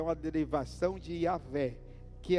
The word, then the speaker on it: Iavé: Porque não tem vogal. Não tem vogal. É a palavra YHWH. Não tem vogal. Alguns judeus, no decorrer dos anos, eles meio que formularam um nome para se tornar pronunciável. E aí eles começaram a chamar Deus de Iavé. Iavé. Quando escreveram a Bíblia em português, esse Iavé se tornou Jeová para nós.